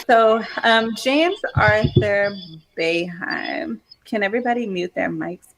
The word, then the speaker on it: Boeheim: Boeheim, yeah. Boeheim, yeah, okay, I said it right.